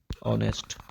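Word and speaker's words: honest: ठीक है, ऑनेस्ट को अगर जब हम हिंदी में लिखने जाते हैं ना, ऑनेस्ट जब हम हिंदी में लिखते हैं तो ये ऐसे लिखाता है।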